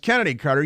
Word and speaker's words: Chennedy Carter: and she and so it's uh spelled chennedy Carter but it's pronounced Kennedy Carter you better not pronounce